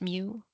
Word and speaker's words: mu: Okay, this symbol is lowercase mu like mu pronounced mu like a cat mu.